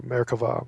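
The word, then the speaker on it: merkavah: Mera with a v it's pronounced V if you're you're saying it in Hebrew marava mysticism the word literally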